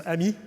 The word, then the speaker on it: AMI: a misnomer um so I prefer the phrase AMI that we pronounce AMI that means advanced machine intelligence okay it's just vocabulary um